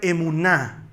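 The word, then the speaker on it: אֱמוּנָה: La fe en hebreo se pronuncia emuná.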